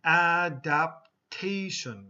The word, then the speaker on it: adaptation: Okay, so adapt and adaptation. Okay, so when you do the noun, the T has to go into the third syllable.